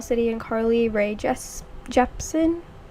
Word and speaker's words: Jepsen: and carly rae jess jepson oh i do not know how to fully pronounce her name but i think it's carly rae okay so it is carly rae jepsen so yeah i chose